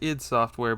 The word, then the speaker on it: id Software: Next, we have one of the most important games of its era, and it's pronounced id Software, believe it or not.